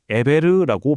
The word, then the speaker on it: 에벨: 이 이름이 히브리어로는 에베르라고 발음되는데 여기서 강을 건너온 자라는 뜻을 가진 이브리, 즉 우리가 아는 히브리라는 단어가 나온 겁니다.